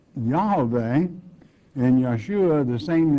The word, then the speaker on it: Yeshua: it it is you there are no JS in the Hebrew tongue so uh Jesus in that that tongue has to be pronounced Yeshua which it means yah's